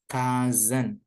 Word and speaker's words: cousin: Cousin. C-nya jadi K, S-nya jadi Z.